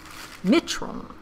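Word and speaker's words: मित्रों: Mitron. It's, the emphasis is on the first syllable.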